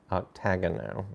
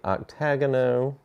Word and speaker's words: Octagono: Octagono, I believe is how you pronounce it.